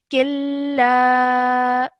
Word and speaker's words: كلا: This would not produce a nasal sound. This is the rule of idgham kamil. So that means that whilst you're joining, you would straight away join the sound of kaf to the lam and ignore the sound of the noon sakin over here.